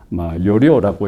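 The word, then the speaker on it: Jorio: 요리오라고 읽습니다.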